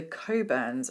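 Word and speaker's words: Cockburn's: up we have the coburns Special Reserve no it's not pronounced as it might be spelled um this is an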